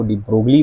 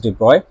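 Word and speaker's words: de Broglie: हम उसको उसकी जो स्पेलिंग है वो डिब्रोगली पढ़ते हैं। बट the pronunciation in इज़ डिब्रॉय और उसको प्रूफ किया था डेविसन एंड जर्मन जो डिब्रॉय के ही स्टूडेंट थे।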